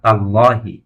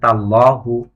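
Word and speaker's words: تالله: আল্লাহ এসেমের পূর্বে তা হরফে জারটি আসার কারণে আল্লাহ শব্দের শেষ অক্ষরে জের হয়েছে। অর্থাৎ তাল্লাহি। কেউ যদি উচ্চারণ করে যে তাল্লাহু তাহলে তার উচ্চারণটি ভুল হবে।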